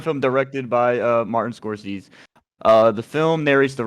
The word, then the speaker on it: Scorsese: from any potential comments it's a Scorsese is how you pronounce it it's confusing all right yeah it's Scorsese Daisy yeah corsetsy uh received a